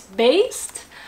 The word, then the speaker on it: Baest: again i had to look up how to pronounce this band name but it is based um for fans of bloodbath and morbid angel